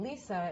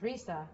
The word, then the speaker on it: Lisa: so the fact that in Japanese my name Lisa is pronounced Risa by a lot of people the R versus L